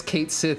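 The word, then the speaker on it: Cait Sith: that to catch she or I guess Kate Sith as they insist it's pronounced in that universe I'll not turn tail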